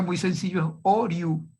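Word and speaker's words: Hauriou: pronuncia muy sencillo, es Oriou, simplemente como si fuera O-R-I-U, y con acento en la U. Maurice Oriou, admitir, Elisa Martínez, decano también de la Facultad de Derecho de Toulouse.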